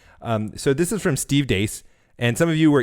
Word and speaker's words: Deace: So this is from Steve Deace.